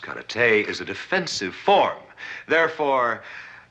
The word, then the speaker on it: karate: Karate, as you call it, correctly pronounced karate, is a defensive form.